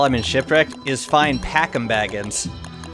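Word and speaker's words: Packim Baggins: in shipwreck is fine packing Baggins packing Baggins that's right that's the correct pronunciation packing Baggins whom I can convert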